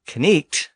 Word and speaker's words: knight: the Normans after 1066 now note that Ken is pronounced with a k sound at the the beginning so the modern spelling of n k n i g HT reflects the fact that the K was once pronounced and in fact most